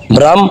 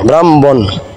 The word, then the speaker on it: ব্রাহ্মণ: না যে বড় ফলাকার ব্রা হ সংযুক্ত মহম ব্রাম ব্রা হম এভাবে কিন্তু উচ্চারণ হবে না বারণ করবেন এক ভাই উচ্চারণ